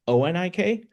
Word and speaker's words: Anik: So, like my name spelled, I think it's O N I K, says Onik. Says it right.